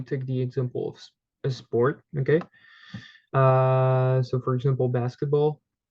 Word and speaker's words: sports: What's easy here, or what's different from English and French as in the pronunciation, is that we have two letters that are completely mute, okay? So the two final letters, we would simply say sport, okay?